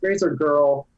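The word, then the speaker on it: RazorGrrl: Follow Professor Marianne Cummings on Twitter at Razor Girl, and girl is spelled GRRL. Maybe Razor Growl. Is it Razor Girl or Razor Growl? It's Razor Girl.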